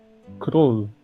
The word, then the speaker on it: Król: Król. Cruel. King. Could Yeah. be. It could be. Cruel R's. Am I saying it right? It's like cruel, but you're flipping the tongue.